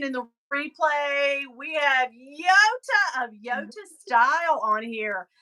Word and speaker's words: Yota: I pronounce your name Yota. And it's because that is how your name is pronounced.